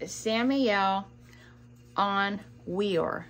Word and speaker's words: Samael Aun Weor: And I'm trying to find the right way to say his name, because his name is Samael Aun Weor, W-E-O-R.